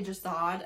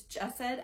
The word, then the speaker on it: Jasad: I am going to say Jasad a million times. It's Jessed. I know it's Jessed because I heard her say it, but like many